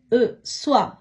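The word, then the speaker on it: soie: இப்படியாக ஓ இ என்ற சத்தம் வரும் பொழுது உவா என்று உச்சரிக்கணும்.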